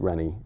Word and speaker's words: Reynard: And his name is spelled such that a lot of people would pronounce it Rainy. It looks like mm-hmm. Rainy or Reynard. But I pronounce it Rennie because I had a friend named Reynard.